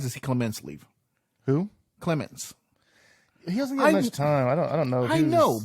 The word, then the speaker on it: Clemens: I think Clement said am I saying the right Clements lemons lemons Clemens I think is this Clemens is it spelled with a t or is it just Clemens yeah there's no tea did you wash your